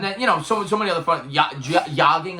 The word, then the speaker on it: yogging: Yogging, I believe it's pronounced with the silent J.